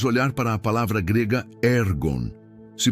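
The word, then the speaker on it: ἔργον: com propósito, podemos olhar para a palavra grega ergon. Se pronuncia ergon. Ergon. é frequentemente traduzida como trabalho ou obras, mas seu significado é mais profundo do que o simples labor. Ergon é o trabalho que produz um resultado.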